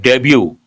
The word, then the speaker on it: debut: Ashwani debut on his debut. Debut means what? Be the letter T is silent.